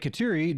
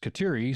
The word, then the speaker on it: Kateri: The Mohawk version of Catherine is Kateri, so it makes sense that the pronunciation should, or could, actually be Kateri, rather than what I've heard a lot, which is Kateri.